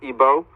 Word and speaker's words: Igbo: that from Nigeria from the Igbo tribe otherwise pronounced IBO and Remy's a scholar